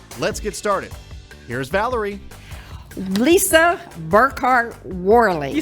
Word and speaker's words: Lisa Burkhardt Worley: Lisa Burkhardt Worley.